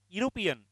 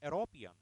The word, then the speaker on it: European: In the same manner, European, we never say European, it's European. He is a European. Like that. European. European means yo means why.